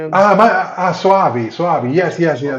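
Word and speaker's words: Soavi: Any I'm probably pronouncing wrong. M Suavei. He did the church this cemetery man. Ah Suavei.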